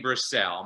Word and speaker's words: Brassell: my name is brasel my last name is really easy to remember how to spell it's about like bras sell no i never took